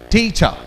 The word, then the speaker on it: teacher: This stress is you'll have to speak the syllable little more loudly than the other syllables. Speak with me. It's te, te, cha. Teacher.